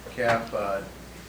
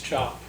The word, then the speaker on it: Cap: entrance application for Stanley Cap. It'd be, if you guys are familiar with 435 and the gun range on the Utica Road. It's not cap, it's chop. Well, I, you know, Spelled like Cap.